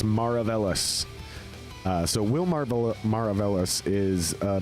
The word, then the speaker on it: Maravelas: I believe it's Maravelas.